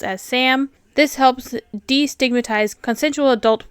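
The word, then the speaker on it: CSAM: And think instead of CP, it's called child sexual abuse material, CS, pronounced as Sam.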